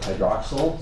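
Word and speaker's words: hydroxyl: I don't know why this is called like a short I sound like hydroxal and this is like a carbonal like a long e.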